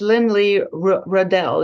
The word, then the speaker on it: Lynlea Rudell: a difference so our special guest today is Lynn Lee Riddell am I pronouncing that right yeah she's a director of